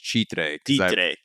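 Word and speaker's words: Chitré: I was just, I was living in Chitre, which is, and I'm allowed to say it like that in Spanish, Chitre.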